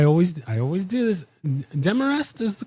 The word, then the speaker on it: Demarest: Dearrest is the correct pronunciation.